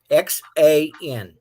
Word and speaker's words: XAN: You want to pronounce XAN? XAN.